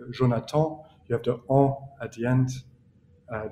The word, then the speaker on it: Jonatan: Like you really pronounce strongly Jonatan, whereas in English, I would say Jonatan.